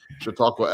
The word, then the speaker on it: Chautauqua: deserve frankly but uh pronunciation is Chautauqua after Lake Chautauqua in Upstate New York I I've heard